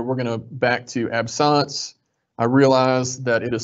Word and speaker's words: absence: We're going to back to absance. I realize that it is spelled absence. Um, it is the French pronunciation.